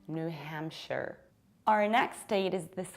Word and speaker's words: New Hampshire: If it is a separate word, then yes, we say a shire. But when it's a part of something bigger, you have to reduce it and pronounce it like share. Hence, we have New Hampshire.